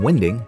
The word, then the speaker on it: winding: We've been told the term "winding" and yes, that is how it's pronounced, came about from the horse-drawn narrowboats using the wind to help them turn around.